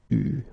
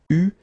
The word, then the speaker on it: eu: Okay, you write it like that, but you pronounce it eu. Okay. So, tu, here the participe passé, eu, and then plus.